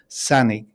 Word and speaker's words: Sanaig: read it, it's called Sanaig, Sanaig. It's actually pronounced Sanig to give it some kind of Gaelic attribute.